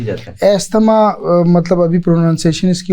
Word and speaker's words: asthma: उनसे गुजारिश करूंगा कि इसको कम से कम प्रॉपर प्रोनाउंस जरूर करें तो एस्मा अब आते हैं जी